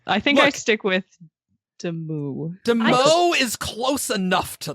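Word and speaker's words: Demoux: But yeah, I think I stick with demu. Demo is close enough to the French, okay? It's close. Like, as long as you don't pronounce the X, you're doing it.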